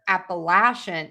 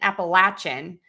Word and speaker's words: Appalachian: I also hear Appalachian. Appalachin. Um, so again, I hate to say one is correct, one isn't. There's variations regionally in the US.